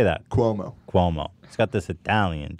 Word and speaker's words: Cuomo: He goes, would Chris Kimono be given a red flag? Not Kimono. I don't know the fuck. How do you say that? Cuomo.